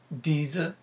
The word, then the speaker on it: dizi: It's called a dizi. And in English we spell that D-I-Z-I.